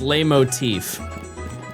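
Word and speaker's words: leitmotif: It's pronounced lay motif.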